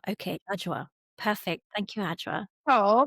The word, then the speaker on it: Adwoa: Am I pronouncing your name correctly? Adwoa. Adwoa. Okay, Adwoa.